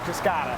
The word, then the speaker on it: Cascada: need a Buick Cascada yeah I checked it's pronounced Cascada let's start with the multi-layer fabric